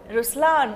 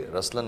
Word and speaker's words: Rushlaan: So even in Ruslan, when you say Ruslan also means the lion, it's the attitude of I am, but the right pronunciation is Rushlaan.